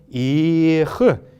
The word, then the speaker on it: эх: мы его отмечаем как Но фактически он произносится как очень мягкое эх, м.